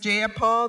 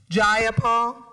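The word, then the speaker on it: Jayapal: you agree with Miss ja Paul that there was no takeover was just jaul if you're going to say my name please say it right it's jaul jaia Paul do you would you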